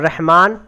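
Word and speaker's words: رحمٰن: इस तरह आएगा, और रहमान को आपको लिखा तो रहमन जाएगा, क्या जाएगा? रहमन, लेकिन यहाँ खड़ा लगाएंगे तो ये पूरा अलिफ का काम कर जाएगा।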